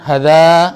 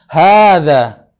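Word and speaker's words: هذا: dekat Haza artinya I ini bagaimana pengucapannya Haza gitu ya Haza bukan Haza atau Khazanah bukan begitu tapi Haza Toyib kita lihat gambar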